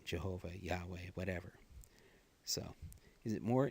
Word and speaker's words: Yahweh: know and all that the pronunciation has been lost throughout the ages most probably like Yahweh but you know there there's room for variation in that so rundus Martini Catholic